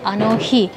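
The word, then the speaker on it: あの日: Cuando uno dice aquel día, se dice anohi.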